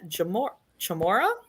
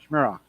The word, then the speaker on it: Schmira: And rounding out the class will be Stephen Chamora? Schmira. Yep. Mm-hmm. Schmira. Out of Hadley, Massachusetts with the Chevy K30 he calls the Hammer. I got properly educated how to pronounce that last name.